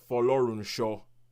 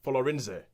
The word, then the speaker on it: Folorunsho: name is Georgia, and I will pronounce this last name properly because nobody in the film does. Folorunsho. That is the way you say it, Folorunsho.